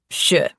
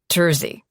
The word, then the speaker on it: trzy: But I can tell you the number three in Polish is pronounced sh. Not Trzy.